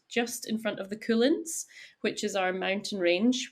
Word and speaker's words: Cuillins: in front of the Cuillins, which is our mountain range, which is spelled Cuillins. So it also just sounds like the word cool, which I love.